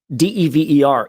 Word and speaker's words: Dever: So a single consonant following a vowel is a hard vowel. D-E-V-E-R is pronounced Dever. D-E-V-V-E-R would be Dever.